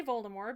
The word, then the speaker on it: Voldemort: But maybe Ron just doesn't like when people say Voldemort because he finds the silent T at the end to be pretentious as fuck.